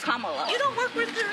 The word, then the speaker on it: Kamala: Earlier you said Kamala. Way she pronounces her name is Kamala.